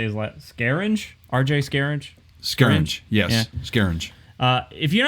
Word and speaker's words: Scaringe: Scaringe, yes, yeah.